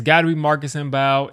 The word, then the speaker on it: Mbow: But I'm thinking it's probably got to be Marcus Bao, or I think it's Bo, just pronounced Bo.